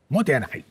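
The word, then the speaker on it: もったいない: cuéntanos Qué es el mota e y cómo puede ayudarnos a a mejorar en nuestras vidas eh motian tiene que pronunciarse como enfadado motian el japonés es un poco como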